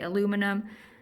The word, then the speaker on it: aluminum: Atmospheric aerosol injection, and they were using things like aluminium, or you over there Americans say aluminum, to reflect the sun's rays back so that we have reduced amount of energy from our glorious sun.